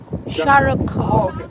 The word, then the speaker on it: Shah Rukh Khan: So how do you pronounce his first name? Shah Rukh? Shah Rukh Khan.